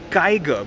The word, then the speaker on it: Kiger: Nope, it's called the Kiger. Basically, say the word tiger, replace the T with the K, and you have this brand new car.